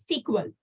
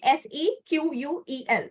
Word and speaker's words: SQL: So that language is called as SQL. Okay, it's SQL, or we pronounce it as SQL. SQL. Okay, SEQUEL.